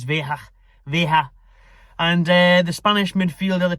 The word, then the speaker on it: Veiga: Veiga is how the Spanish are pronouncing it. Us English will obviously butcher it and just call him Veiga.